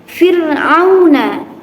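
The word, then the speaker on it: فرعون: Contoh terakhir, fir'auna. Fir'auna, bukan fir, tapi fir'auna. Dibaca tipis.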